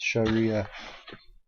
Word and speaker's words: Sharia: It is pronounced Sharia.